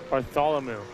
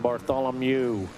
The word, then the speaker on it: Bartholomew: Bartholomew. M Ew. M E W MW on the end. Bartholomew.